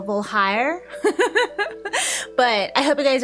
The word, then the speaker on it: Voulhire: I keep thinking it's hair, even though there's not an A there, so Voulhire.